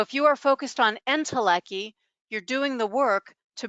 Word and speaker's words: Entelechy: Um, Entelechy, did I pronounce that right? Entelechy.